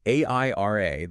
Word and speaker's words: Airia: So AIRA, that's spelled AIRIA, it gives you that unified security and, crucially, real-time cost control.